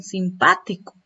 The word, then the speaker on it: simpático: Miren, simpático. ¿Dónde recae la mayor fuerza de voz? En la sílaba pa.